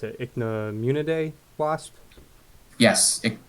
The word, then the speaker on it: Ichneumonidae: And he also goes into the, God, how do you pronounce it? Ichneumonidae wasp? Yes, Ichneumonidae.